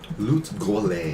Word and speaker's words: Lut Gholein: But could you spell that? yeah, L-U-T, Lut, and then Gholein is Gholein. Pretty. Lut Gholein.